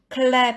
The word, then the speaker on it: clap: 때 단어는 다 쉬웠는데 clap 해서 L 발음을 아주 시원하게 해주는 그 부분이 저는 좀 어려웠는데요. 왜냐하면은 R하고 L 발음을 못하면 crap 하면은 좀 나쁜 소리가 되고요. 또 우리가 맛있게 먹는 crap도 있고요. 해서 clap 할 때 clap 일부러 힘을 줘서 발음을 했습니다.